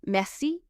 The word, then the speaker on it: merci: Well, whenever you learn a new word in French, always emphasize the last syllable, and you'll instantly sound more French. So, we've just said the word messi means thank you or thanks, and you stress the last syllable, me.